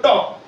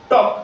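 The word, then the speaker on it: talk: ঠিক আছে তারপরে এলো টক টি এল কে টক এখানে এল টা কিন্তু সাইলেন্ট লেটার ঠিক আছে মানে এলটা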